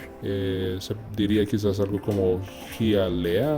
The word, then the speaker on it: Hialeah: Se diría quizás algo como Hialeah o algo así en español, pero oigamos cómo lo dice el traductor en inglés. Hialeah. El siguiente es esta ciudad en Georgia, que en español quizás se pronunciaría esto de Decatur.